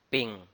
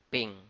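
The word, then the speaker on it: 丙: The sun is pronounced as Bing. Bing.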